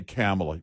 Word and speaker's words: Kamala: His prompter said, and they wrote it out phonetically, her name, comma, COMMA dash LA, Harris. That's how they wrote it.